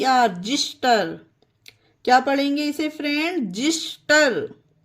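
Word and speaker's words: xyster: तरह से एक्स वाई एच टी ई आर जिस्टर क्या पढ़ेंगे इसे फ्रेंड जिस्टर एक्स को जा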